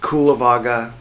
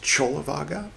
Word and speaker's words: Cullavagga: This is Buddhist books podcast episode 331 tibaka part 22 in which we'll continue reading uh spelled kulivaga but uh in the original poly apparently it's pronounced cholivaga c u l l a chol go figure.